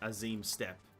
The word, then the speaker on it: Azim Steppe: it's um pronounced cuz it's pronounced the as azim step not the aim as aim steep that's what I mean